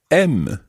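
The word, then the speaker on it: aimes: i like scottish music if i want to ask you do you like music i don't say gem i say m let's add something else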